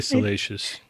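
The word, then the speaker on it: Salacious Crumb: I say salacious. Salacious. Whatever. I mean, All right. that's the correct pronunciation.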